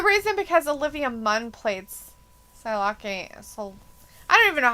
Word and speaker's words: Psylocke: Well, P-S-Y is Psy. Right. Like psychology, Psy.